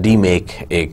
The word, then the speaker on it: DMAIC: give up a DMACC d make a methodology here that you are saying DMAIC so we pronounce it as D make and then what are